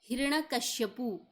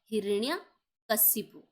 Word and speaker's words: हिरण्यकशिपु: चलिए, नेक्स्ट शब्द है हिरण्यकश्यपु। ठीक है। तो ये शब्द आप देखिए, जैसे हम प्रोनाउंस करते हैं तो बिल्कुल सही लग रहा होगा आपको, जबकि क्या होता है, हिरण्यकशिपु। ठीक है। तो ये राइट आंसर हो जाएगा।